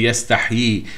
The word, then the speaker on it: yastahyi: And then there is a kasra on the ya, which is yi, which means there is another ya after it. and this is how it's indicated, this is how it's pronounced by all the reciters and the specialists of tajweed. You have to say yastahyi.